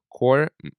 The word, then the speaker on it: choir: Choir, choir, choir, Choir. choir. Choir must always rhyme with wire.